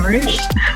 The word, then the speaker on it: Marruch: Today I have Marruch with me. I hope I'm pronouncing your last name correctly. That is correct, yeah, Marruch.